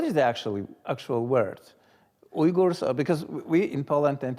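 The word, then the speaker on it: Uyghur: we in Poland tend to say Ur right yes is that uh correct does it sound like the real word or yes yes it does uh yes I I think that is the correct pronunciation okay cuz you get yugur right anyway that's a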